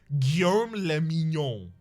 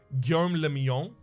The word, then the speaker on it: Guillaume le Mignon: Guillaume le Mignon. If it doesn't rhyme, you're not pronouncing it right. Thank you. Guillaume le Mignon.